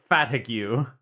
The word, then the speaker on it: Fatigue: I love I love how it's just his name is just literally fatigue, but you pronounce it faticu.